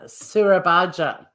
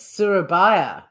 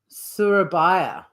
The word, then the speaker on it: Surabaja: For some chicken surabaja. Hang on. Let me get the pronunciation. Oh, it's a silent J. It's Surabaya. Surabaya.